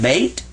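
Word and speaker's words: بيت: And this is ta, beta, bait. So that's how you say house in Arabic.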